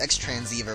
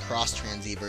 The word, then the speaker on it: X-Transceiver: I mean, it's the X-Transceiver, but it's apparently pronounced Cross-Transceiver, just like that stupid